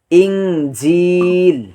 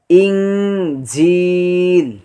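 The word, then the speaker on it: إنجيل: কোরআনে এসেছে 12 বার ইঞ্জিল ইনজিল ইনজিল ইনজিল ইন দেখেন এখানে হামজা নুন জের ইন কিন্তু এখানে আমরা অনুস্বরের মত উচ্চারণ করতেছি ইন বা যেভাবে দেখতে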